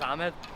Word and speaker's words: Ahmed: His name was Ahmed, not Ahmed. I was pronouncing it wrong.